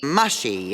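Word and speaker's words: Mushi: Mushy, is it? It's pronounced mushy.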